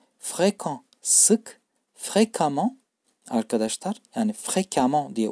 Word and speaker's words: fréquemment: Fréquent sık, fréquemment arkadaşlar yani fréquemment diye okunuyor.